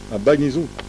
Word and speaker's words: Agbangnizoun: C'est prononcé correctement? Agbanizoun. Agbanizoun.